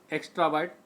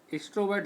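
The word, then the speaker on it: extrovert: एक्स्ट्रावर्ट, एक्स्ट्रोवर्ट हम लोग पढ़ते हैं, लेकिन एक्स्ट्रावर्ट सही उच्चारण है।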